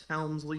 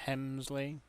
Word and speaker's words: Helmsley: ] snoody Hunter Hur Helmsley gimmick going on no no no no no you're saying it wrong Cody you got to say it like Pat Patterson Hunter Hurst Hemley Hemley anyway uh 9810 Shamrock